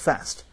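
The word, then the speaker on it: PFAST: in This Acronym uh the p is silent for obvious reasons pronounced fast but it stands for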